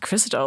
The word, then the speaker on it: Krystal: of course, and I'm like, Krystal, okay, it's pronounced Krystal.